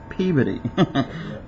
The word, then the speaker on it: Peabody: trio of overdue culprits of course it says p PE but I know uh there in Massachusetts they pronounce it pey which I thought was strange you know hey you